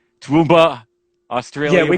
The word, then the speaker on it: Toowoomba: Did I get that pronunciation right? Toowoomba, Yeah, Australia.